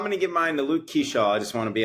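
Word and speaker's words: Luke Keaschall: Um, not Luke Keequley, Luke Keshaw. Keshaw is how it's pronounced it.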